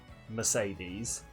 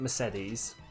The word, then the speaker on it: Mercedes: I know her name is spelt Mercedes, but she pronounces it Mercedes, so her name is Mercedes.